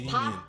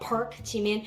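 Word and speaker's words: 박: it is pronounced as Pop but when you write in romanization we write it as Park and I know nonsense it's never pronounced as Park it's not Park it's so keep that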